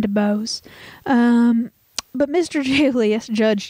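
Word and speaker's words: Dubose: whose name was julius de bose um mr jubilee no it's spelled d-u-b-o-s-e uh usually it's an eye but anyway it just depends yeah anyway i'm saying to bose um but mr julius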